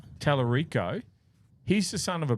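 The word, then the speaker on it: Talarico: James Telerico. Telerico.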